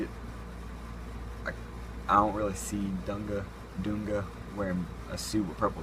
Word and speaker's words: Dunga: I threw in Dunga, as it's pronounced. There's a lot of different pronunciations of the dude's name. I call him Dunga.